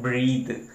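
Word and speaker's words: breathe: ब्रीद। इसको पढ़ते हैं ब्रीद। इसको क्या पढ़ते हैं? ब्रीद पढ़ते हैं, और इसको ब्रेथ पढ़ते हैं।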